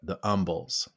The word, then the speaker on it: umbles: what we call the umbels and the umbels are these this series of terms that rhymes with humble and there's stumbles fumbles